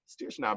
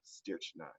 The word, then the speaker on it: strychnine: And I thought I went through all my my presentation and found the words that I was strychnine, but I did that on the fly.